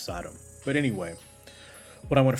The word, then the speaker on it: Sodom: Technically, it's pronounced Sodom.